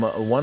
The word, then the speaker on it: ONE: I'm told that a uh someone familiar with Matters Maritime and this particular uh um company says it's pronounced O ne, not one.